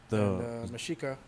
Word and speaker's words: Mexica: Mexica. It's the native. Yeah, the native way of saying Mexico. You know, the Mexicans and Mexica people. Mm-hmm. The X is pronounced with the SH.